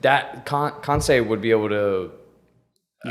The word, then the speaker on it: Kansei: I feel like that Kansei would be able to.